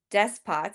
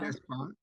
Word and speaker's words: despot: leaders of the less developed countries after these desk pots. How do you say that word? Do we know? Despot.